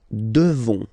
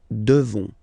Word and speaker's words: devons: Nous devons. Okay, classic ending ONS for nous. Okay, you just pronounce this on, on, this nasal. Okay, and then the S, final S is not pronounced. Nous devons. Nous devons.